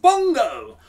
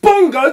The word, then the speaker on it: Bongo: they call an Bongo Bongo does not rhyme with dong dong